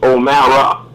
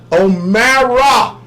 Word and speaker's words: O'Mara: Well, actually, the correct saying is O'Mara. O'Mara. So, Brother Shane, you got to correct the spelling. Yes, correct the spelling, Brother Shane. But Omar is fine. It's actually Omara. But I've been called Omar. It's just easier to pronounce, so I go by Omar as well. So Omar is perfectly fine.